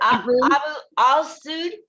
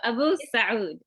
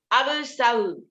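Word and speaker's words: Abu Alsaoud: Is it Abu Al-Saud? No, the AL is silent. So Abu Saud. Abu Saud.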